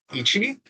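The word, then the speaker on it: 一: Then the next number is 1, which is Ichi, and is how you pronounce it in Japanese.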